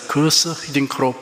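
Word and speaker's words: Guus Hiddink: 월드컵에서 우리나라 축구 감독을 맡았던 히딩크 감독의 이름이 처음에는 구스 히딩크 등 몇 가지로 불렀습니다. 결국 본인의 요청에 따라서 거스 히딩크로 부르게 되었습니다.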